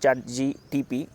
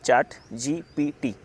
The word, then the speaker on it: ChatGPT: I was pronouncing that chart GPT wrong uh yesterday. Uh I was telling uh chart GTP. It is not chart GTP. It is chart GPT.